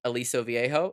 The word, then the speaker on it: Aliso Viejo: So, you were at a city council meeting, right, in Aliso Viejo, is that how you say it?